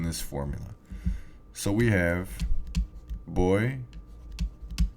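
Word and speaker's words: voy: formula so we have boy boss ba now remember that this v here is pronounced like the b as in boy okay it's not pronounced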